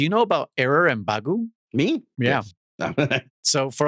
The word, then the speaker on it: Bagu: So the thing that was supposed to happen during the translation is Bagu is like the foreign way of pronouncing bug in Japanese.